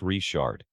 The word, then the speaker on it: Richard: In Cajun country, Richard is pronounced Richard.